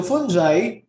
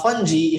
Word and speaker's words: fungi: to fungal diversity so fungi or fungi if you try to google the pronunciation those two are actually acceptable fungi but i'm more accustomed to saying it's a fungi fungi and fungi are